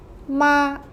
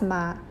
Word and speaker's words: 妈: 妈妈 Ma.